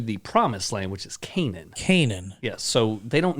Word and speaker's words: Canaan: They're going to the promised land, which is Canaan. Canaan. Yes, so they don't know where Canaan is. Or Canaan.